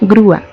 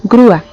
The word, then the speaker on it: grúa: Tenemos la palabra grúa. La pronunciamos y emitimos dos golpes de voz. Decimos grúa. Por lo tanto debe ir separada porque está formando también un hiato.